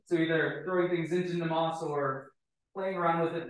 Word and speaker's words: MnemOS: it out um so the name which everyone has trouble pronouncing it comes from a nemosity who's the Greek goddess of memory I figured for an operating system managing memory is pretty important so I went with that uh if you need to remember how to pronounce it it's like mnemonic same word memory operating system you are